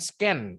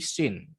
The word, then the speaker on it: scene: namanya scene nah lanjut cara bacanya bukan scan Bukan tapi scene terus dialog-dialog itu dialog